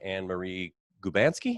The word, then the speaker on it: Annmarie Gubanski: Okay, I am joined by Annmarie Gubanski. Is that how you pronounce it?